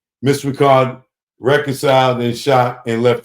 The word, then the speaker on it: Richard: bro hey she said it ain't pronounced Richard it's part Ricard that's how she said